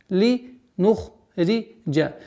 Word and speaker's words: لِنُخْرِجَ: لِنُخْرِجَ. Вот обратите внимание, знак удвоения это применяется при слитном чтении. А при начинании 15 аята в отдельности никакого влияния на произношение не имеет.